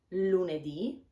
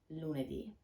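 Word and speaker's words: lunedì: to pronounce lune d with the accent on the last vocal marte di mercole di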